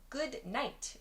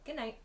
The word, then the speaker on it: good night: Yeah, good night. We sometimes say good night, good night. So that ud in good is dropped. We remove that ud sound and we say good night, good night.